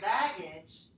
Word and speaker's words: baggage: In here, baggage, the stress is on the first syllable.